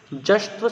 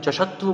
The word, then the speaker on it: जश्त्व: जश्त्व, कुछ विद्यार्थी इसको जशत्व बोलते हैं, उचित नहीं है क्योंकि यहाँ पर ज और उसके बाद में आधा श का प्रयोग किया गया है, इसलिए इसको उच्चारण होगा जश्त्व संधि।